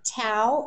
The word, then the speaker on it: Tao: thanks to another one of our panelists uh tau and i'm pronouncing that correctly is that you are thank